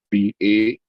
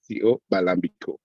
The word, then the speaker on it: Balambico: And it's spelled as it sounds. It sounds as it spells. Balambico, Balambico.